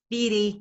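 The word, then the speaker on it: fere: So this poem's called Feary Good Nicht, and fear is the old Scots word for friend, as you probably know, but I pronounce it feary in this poem because it gives me more rhymes. Feary Good Nicht.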